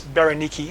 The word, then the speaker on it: Bernice: As I said before, in your King James Bible, you will see her name given as Bernice. But as I said, the Jewish pronunciation, the Jewish rendering of the name is Biniki.